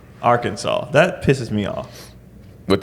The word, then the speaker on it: Arkansas: or something like yeah it should be a RK a NS a w that should be Arkansas foreigners pronounce it Arkansas Arkansas mhm well we